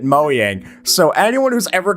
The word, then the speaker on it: Mojang: meet on our walkthrough Craig who's from Moyang who also pronounced it Moyang.